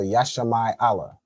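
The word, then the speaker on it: ישמעאל: And who knows how you'd say Ishmael in Hebrew. Go ahead. Yasham Allah. All right. So Yashi Allah.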